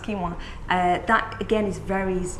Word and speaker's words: quinoa: quinoa it looks like it's a quinoa it's pronounced quinoa that again is very easy to digest and